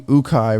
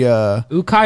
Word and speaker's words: Ukaj: Yeah, today we have Jenny Ukaj, right? Is that how you pronounce it? Yep. She, Ukaj or Ukaj?